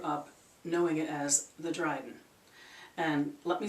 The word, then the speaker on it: Dryghten: pronunciations to it too i in my first circle learned it as dryden so dryden is what it is to me so what is this